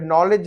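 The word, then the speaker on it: knowledge: और यहाँ पे आप देखेंगे ये नॉलेज, वहां पे नो हुआ, ये नो से यहाँ पे नॉलेज है, तो नॉलेज इल्म है, तो यहाँ पे नॉलेज का के साइलेंट है।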